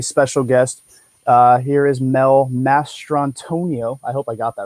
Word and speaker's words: Mastrantonio: Here is Mel Mastrantonio. I hope I got that right. That was close enough. Close enough? Okay, Yeah, cool. it's Mastrantonio, but no one ever tries to say it.